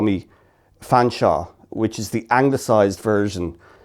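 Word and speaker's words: Featherstonhaugh: They call me Fanshawe, which is the anglicised version of Featherston. For some reason, they call it Fanshawe, like St.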